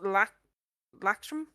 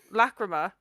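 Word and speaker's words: Lachryma: you, like, but because the second song is Lactrum, I think it's pronounced, which means tears. Lacrima.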